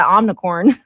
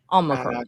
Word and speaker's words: Omicron: She just said it casually, like, "Oh yeah, the omnicorn."